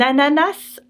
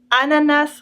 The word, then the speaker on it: ananas: For example, un ananas, a pineapple, not ananas or ananas. That makes it very, very French, un ananas.